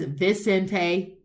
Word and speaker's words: Vicente: No one says Vicente. B. The V's are pronounced like a B.